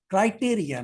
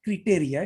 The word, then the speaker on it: criteria: Criteria, not criteria. It is criteria. Pronunciation is Yes. criteria. CRITERIA.